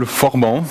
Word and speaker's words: Forban: talk about something called forban uh you can pronounce it with a French accent sorry for my French